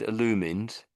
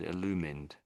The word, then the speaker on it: illumined: I liked how you said illumined. So a lot of people would have got that wrong and have got that wrong but you had it spot on. That's exactly how it said illumined, which is an a strange an odd word.